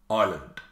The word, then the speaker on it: island: The next word is island. You can't hear that S.